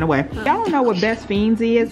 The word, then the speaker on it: Best Fiends: by playing best fiends I know it looks like it's pronounced best friends but it's best fiends without the ark so there you go